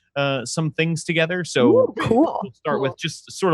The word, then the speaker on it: Kuhl: The best place to find me is over on Twitter, where I'm at cat_cool_ with cool spelled like my last name, KUHL.